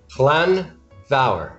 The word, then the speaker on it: Llanfair: Let's see if you can actually pronounce Llanfair. Yeah. Llanfair.